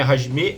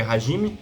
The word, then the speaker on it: Hajime: Não é Hajime, é Hajime.